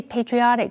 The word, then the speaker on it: patriot: 这篇文章的第一个重点，我们来看 patriotic 这个形容词。P-A-T-R-I 这个字根有父亲的意思，因为国家有父亲的意味，所以 patriotic 是指爱国的，或者是有爱国心的。注意它的重音是在 O 这个音节，念成 patriotic。例如 many patriotic young men joined the army to fight for their country during the war.